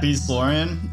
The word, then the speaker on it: Beastlorion: Did I pronounce that right? Yeah, Beastlorion.